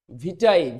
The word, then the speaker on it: vitae: ভিটাই, VITAE, ভিটাই।